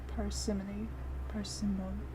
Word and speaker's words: parsimony: Parsimony. Alright, we're gonna take a quick pause to look up how it's pronounced.